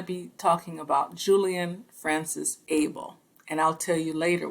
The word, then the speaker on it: Abele: we're going to be talking about julian francis abel and i'll tell you later why i know that's the correct pronunciation of his name this individual is the